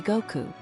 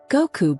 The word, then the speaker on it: Goku: your name will be Goku. He pronounced the two syllables clearly with a joyful somnity. Go like the force that brought you here and coup like the sky you fell from.